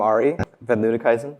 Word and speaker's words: Arie van Luttikhuizen: And I'm Ari Van Ludekhuizen. That's how you pronounce that.